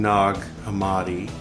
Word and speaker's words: Nag Hammadi: Um, so yeah, we're reading Nog Amadi. So we're burning some Nog Champa and to drink Peru. So it's spelled like nag but pronounced more like eggnog, right?